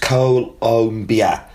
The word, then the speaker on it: Colombia: The country's name is pronounced Colombia, not Colombia, as I keep saying.